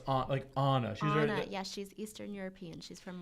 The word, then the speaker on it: Anna: And it's pronounced Anna.